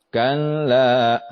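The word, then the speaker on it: كَلَّا: aklada ya berikutnya Kalla ingat di sana ada tasdid Kalla seperti itu cara membacanya Kalla lumbadan fil hutomah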